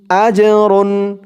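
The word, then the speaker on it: أَجْرٌ: Hamza gym জবর আজ, আজ। ফালাহুম আজ, র দুই পেশ রুন, আজ রুন, ফালাহুম আজরুন, ফালাহুম আজরুন।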